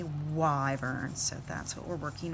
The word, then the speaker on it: wyvern: mispronouncing the word and it is wyvern not quiver nor river nor why reburn but definitely why burns so that's what we're